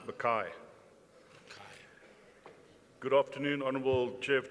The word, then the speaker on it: Mackay: Let's call on stage Honorable McKay. Good afternoon, Chair of Chairs. It's pronounced Mackay.